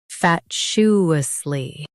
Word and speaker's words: fatuously: Emphasize fat and soften shus.